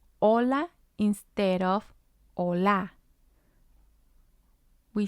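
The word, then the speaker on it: hola: is the second syllable remember that the H in Spanish is silent we have messes messes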